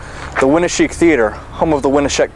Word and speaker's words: Winneshiek: just to be correct how do you say it again winik theater winik right did I say it right yeah awesome what are